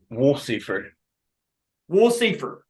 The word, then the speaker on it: Wolsiefer: have it for eternity the cor correct pronunciation of your name it's woler W Seer yes sir John W